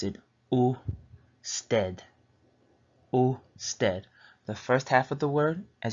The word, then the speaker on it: usted: U is the first half of the word, and sted. So this word is a little easier to pronounce for English speakers because you have the U here, and then the second half you have sted, so you just say it as you see it.